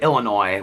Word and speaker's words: Illinois: I don't know why it's like Illinois with an ass I always say that drives me crazy somebody comment on my video the other day and so their mom lived in Illinois and she pronounced to Illinois when I hear somebody say Illinois I'm like we live literally next door okay to Illinois it's not Illinois what did somebody say